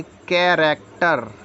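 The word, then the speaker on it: character: ए सी टी ई आर इसको हम पढ़ेंगे कैरेक्टर कैरेक्टर मतलब चरित्र एम ए सी एच आई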